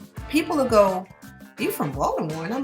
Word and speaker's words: Baltimore: city Baltimore right now I can say Baltimore because that's how it's spelled and I'm from Baltimore you probably won't even hear the T but what I'm saying